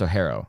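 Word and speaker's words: Orhorhoro: look at his name it is spelled o r h o r h o r o but it's pronounced oaro apparently um at number 74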